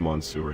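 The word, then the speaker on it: Mansour: good evening mour sakar it's actually pronounced Monsour not monster I didn't say monster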